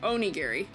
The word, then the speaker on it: onigiri: Long O sound. Okay. Oni Gary.